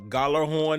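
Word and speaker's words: Gjallarhorn: in Minnesota, um, the the Galar Horn, I think that's how you pronounce that. You know, it has that silent J, but I think it's uh Goller horn is how you pronounce that.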